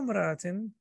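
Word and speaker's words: امرأة: So we know that the hamza of imra is hamzatul wasl. So when we read it, we connect it. So we will say alfu imra'atin, which sounds a little bit, awkward.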